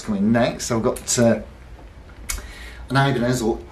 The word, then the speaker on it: Ibanez: I've got an Ibanez, or Ibanez, if you prefer, which is, of course, the... Correct pronunciation, Ibanez, from Salvador Ibanez, 18-something to about